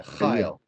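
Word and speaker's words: חיל: Chayil. Right. The emphasis on the first syllable there. So chayil.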